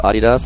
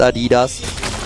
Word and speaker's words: Adidas: It's still Adidas. It's still a German company, not American. It's not pronounced Adidas.